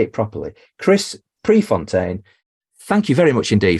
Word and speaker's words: Prefontaine: I am going to say it properly Chris Prefontaine thank you very much indeed for being a